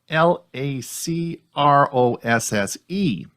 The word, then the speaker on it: Lacros: Lacrosse as a sport is spelled Lacrosse. We're going to talk about lacrosse for a Chromebook, which is Lacros, and it stands for Linux and Chrome OS, and that's called lacrosse.